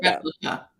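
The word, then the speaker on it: Replika: Is it Replica? Is that how you Mm-hmm. pronounce it? Replica. Replica.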